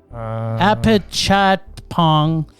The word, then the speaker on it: Apichatpong: Do you know how to pronounce it? Apichatpong Weerasthakul. It's a very long name. It's Apichatpong.